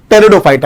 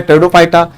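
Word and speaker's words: Pteridophyta: पहला है थैलोफाइटा, दूसरा है ब्रायोफाइटा और तीसरा है टेरिडोफाइटा। यहां पर पी बच्चों साइलेंट रहेगा।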